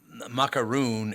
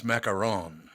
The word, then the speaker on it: macaron: it's actually number one people say macaroon and it's macaron it's macaron not macaroon oh I've